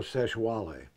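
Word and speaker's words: Sexwale: So during this TV show, there's another guy in the show named Tokyo Seshwale, which is spelled sex whale.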